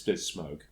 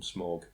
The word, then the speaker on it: Smaug: Speaking of the dragon, do you pronounce it Smog or Smaug? I pronounce it Benedict Cumberbatch. That's strange. Yeah. I don't know how you say it. I would say Smaug, probably. Smaug. It's Smaug. But I went through my entire childhood calling him Smog.